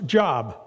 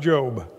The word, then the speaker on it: Job: in the Old Testament it's the book in the Bible that you probably pronounced a job but it's pronounced job and job was having